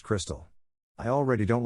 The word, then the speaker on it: Krxstxl: daughter krxst XL confused the name is pronounced Crystal I already don't like